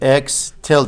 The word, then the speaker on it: X tilde: line over it it's called X tilde so X tilde that's how to pronounce that one when you see that that